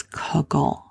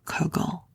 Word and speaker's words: kugel: by the Jewish dish known as cugle it's spelled k u g e l kugle now if you were